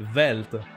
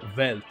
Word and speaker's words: Welt: per la parola world, sarebbe Welt, perché in tedesco la W si legge V, non W, non è Welt, sarebbe Welt.